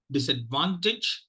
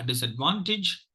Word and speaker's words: disadvantage: uh disadvantage the uh there are two stress syllables the Prime Minister syllable is that the third syllable is a prime minister syllable and the first syllable is the secondary stress syllable uh sorry the third syllable is the prime ministers and the first level is secondary stress yeah so I thought